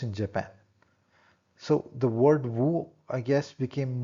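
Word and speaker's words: 無: So the word Wu, I guess, became Mu in Japanese. So Japanese then speaks of Mu, while the original Chinese pronunciation of the word was Wu.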